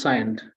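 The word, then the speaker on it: Cyient: uh simulation and uh at how do you pronounce the company it's c-y-i-e-n-t science I believe it right that's science yes thank you and uh here's a M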